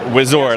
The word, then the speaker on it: Wizord: this right it would Zord wizard wizard like Megazord right yeah I mean I think wizard would say that Megazord